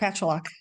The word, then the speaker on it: Pacholok: I get the pronunciation wrong. Is it Pacholok or Oh, Pacholok? no, that's correct, Pacholok.